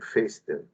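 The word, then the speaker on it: Foerster: la pinza de Fester forester se escribe pero se pronuncia pinza de Fester o pinza de anillos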